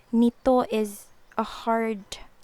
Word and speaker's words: nito: For the pronunciation, it's like nito is a hard E sound, nito.